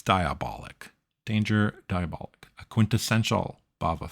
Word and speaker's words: Diabolik: like, well, again, Planet of the Vampires, Danger: Diabolik. Uh I don't know if I'm saying it I'm It's Diabolik.